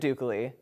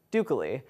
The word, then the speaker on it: Ducol: I'm your host Jacob Duke Lee no it's not pronounced like e.coli not broccoli not Picardie Duke Lee you're gonna forget that